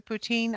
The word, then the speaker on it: poutine: The poutine.